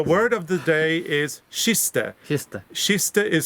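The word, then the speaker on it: kiste: a k sound but because it's with an i it's a sh sound so she's telling you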